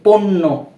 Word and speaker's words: পণ্য: এরূপ ভাবে এই যে পণ্য, পণ্য, আমরা কিন্তু এভাবে পড়ছি না, পণ্য, পণ্য, এরূপ উচ্চারণ হয়।